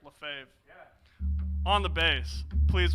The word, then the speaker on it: Lefebvre: I don't know how to pronounce his last name. I'm just going to go for it. Lefebvre? Yeah, that's right. Lefebvre.